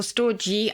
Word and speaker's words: storge: All the possibilities of love can be summed up in storge. Is that how you pronounce it? Yes, or storge. I think it's soft or hard G.